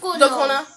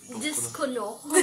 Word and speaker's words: dokono: Discono. It's Discono. Discono. Ryan, how do you pronounce this word? Dokono. Yes. It's Wait, no. I thought that was a C. It's all. Dokono, yeah. Dokono. It's not Discono.